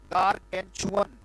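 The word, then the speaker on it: gargantuan: चुअन, चुअन, गारगेंचुअन, गारगेंचुअन, गार, गार बोला, गार बोला जी, फिर गैन बोला, ठीक है जी, गैन बोला, गारगेन, राइट, TUAN, गारगेंचुअन, ये पढ़ा जाएगा बेटा, गारगेंचुअन, शाबाश, लिखेंगे और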